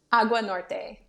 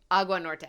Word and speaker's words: Agua Norte: you say it I want it to be pronounced properly AUA Norte AUA Norte okay so this is the one I'm looking